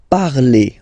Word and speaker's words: parlez: Let's see now for vous, vous parlez, okay? Remember, a Z, when you combine them together, you get the sound E, vous parlez, all right?